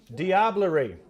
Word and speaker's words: diablerie: next word is from that famous mystery Bowl dibler dibler means diabolic magic or art sorcery or witchcraft diabl diabl diablerie dibler diabl didn't help did it diablerie I'm sorry diablerie okay time's up okay this word is spelled D i a b l e r